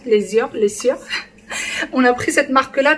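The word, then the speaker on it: Lesieur: C'est comme ça que ça se prononce, l'Essieur.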